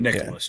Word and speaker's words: Nicklaus: I always get the name wrong. Jack Nicklaus, the golfer, isn't that right? mhm. Not Yes. Nicholson, but Yeah. Nicholas.